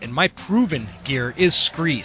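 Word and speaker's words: Skre: And my favorite and my proven gear is Scree. Scree is spelled S-K-R-E. It's kind of a play on the word from scree rock found at the bottom of a cliff face or something like that.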